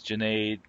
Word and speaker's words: Jade: them my name is Jade rhymes like lemonade and they will never